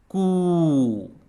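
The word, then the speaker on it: कु: And you pronounce it like COO in Cooper. Cooper. Cooper. And like COO in Scooby-Doo.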